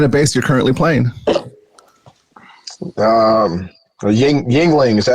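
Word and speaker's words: Yuengling: Yingling, is that how you pronounce it? Yingling.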